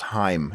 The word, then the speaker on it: Haim: Columbus did but guess what his name is pronounced Haim its name that's amazing he's very Jewish it's